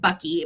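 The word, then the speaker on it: Boecky: hung right here, um would have said Bucky, but it's spelled b o e c k y.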